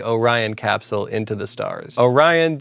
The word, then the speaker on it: Orion: Orion just so happens to rhyme with horizon, and that's the story I chose, and look how it worked out.